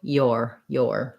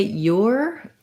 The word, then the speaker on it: your: The pronunciation is the same. And we have basically an or diphthong with a glide before it. So your. Some people will say your with more of an ooh sound.